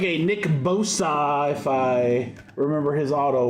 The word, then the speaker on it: Bosa: And our auto is that looks like a Nick Bosa. If I remember his auto well enough, it's pronounced Bosa. Leviosa. Levio Bosa.